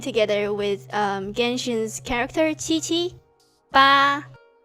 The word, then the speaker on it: 八: Ba. Ba is the same pronunciation as father. Although for father is fourth pronunciation is ba. But for 8 is ba.